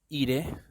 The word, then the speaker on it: irae: por qué el 10 iré a decir verdad irae no se pronuncia la cuando hay una ae en el latino se pronuncia la e es un poema medieval